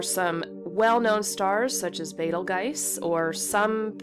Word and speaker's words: Betelgeuse: and there are some well-known stars such as Betelgeuse, or some pronounce it Betelgeuse or Betelgeuse. I was taught that it was pronounced Betelgeuse, so that's the way I kind of, that's my default pronunciation of it.